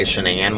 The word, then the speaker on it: Shanann: read articles online um i thought it was chris and shannon watts and so for probably the first hour of this book i thought he was mispronouncing her name because he would say shenan watts until i finally looked it up and saw that it was shanann watts so it was just